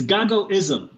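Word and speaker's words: Gagoism: do you pronounce it it's gaga-ism so my name is Gago and ism is the way of right so it's the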